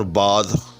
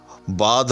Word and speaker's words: باندھ: باندھ رہا ہوں یا باندھ رہا ہوں، ٹھیک، یعنی بالکل ایک لفظ ہے، جی ہاں، یعنی باندھ اور باد، جی ہاں، دونوں کا ایک وزن ہے، جی ہاں۔ یہاں یہ نون غنہ ہے، یاد رکھیے گا، یہاں یہ کیا ہے؟ نون غنہ ہے، جی ہاں۔ اسی طرح سے مانگ